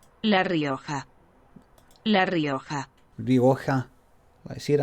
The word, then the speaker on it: Rioja: Here, how do you pronounce Rioja? Is it Rioja? Rioja? Rioja? Rioja? Rioja? Let's find it. Rio. Translate. Right, so this will go. Right, here we go. So it's La Rioja.